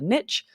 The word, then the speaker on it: niche: else calling the space in a wall a niche absolutely you can say that but on an